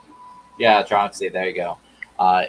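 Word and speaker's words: Tronxy: what is it because i always say the name wrong like uh trunks trunksy yeah troxy there you go uh it's the 400 by 400 by 400.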